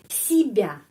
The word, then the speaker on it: себя: Себя. Si i huruf y pengucapannya i. Kenapa? Karena penekanannya di sini себя. Jadi себя huruf ya dapat penekanan себя, я. Себя.